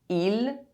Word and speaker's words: île: Mistake #4 - Pronouncing final E E as the final letter of a word is silent. These two words are pronounced exactly the same. île island il he E can be preceded by a consonant.